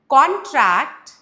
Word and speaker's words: contract: Over here, it's a noun, so we have stressed on the first syllable. Whereas in the other one, muscles contract when we do this exercise. So the stress completely changes and you will understand,